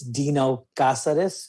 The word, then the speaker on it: Dino Cazares: It's Dino Cazares is the correct way to pronounce my name.